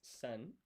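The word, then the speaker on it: 千: So, a thousand in Japanese is pronounced sen.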